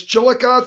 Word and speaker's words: Chillicothe: the 11th of course of March yeah it's Chillicothe Ohio it is kind of hard yeah Chillicothe there you go yep yep coming up uh